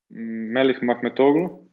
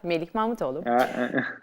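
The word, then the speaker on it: Melih Mahmutoğlu: Melih Mahmetoğlu. Thank you. Yes, you pronounced it very well. Melih Mahmetoğlu.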